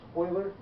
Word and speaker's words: Euler: Looks like his name should be Euler, but it's not. He's pronounced Euler.